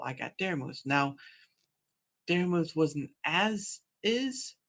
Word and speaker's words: Daramouthe: And then that's how I got Daramouthe. Now, Daramouthe wasn't as is, but again, in the English language, the E is silent, so consider that as is.